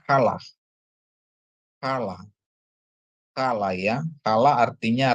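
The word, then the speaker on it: חלה: Terus head dikasih patah, lamet dikasih kamats tambah he, jadi bacanya kalah.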